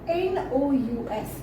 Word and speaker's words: nous: We, that is N-O-U-S. We pronounce it nous.